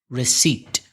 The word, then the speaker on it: receipt: Receipt. How do you spell it? RECEIPT. Difficult to pronounce for Spanish speakers, especially when you see it written. It's receipt. With a silent P.